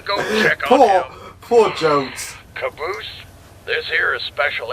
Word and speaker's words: Jones: God we're not Private Joe Ennis! Joe Ennis! Joe Ennis! Where the hell are you? Sir, for the millionth time, my name is pronounced Jones.